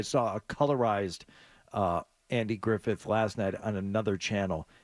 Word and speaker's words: Griffith: Griffith I notice how I have to over pronounce Griffith because it drives you insane when I don't get it right that they um that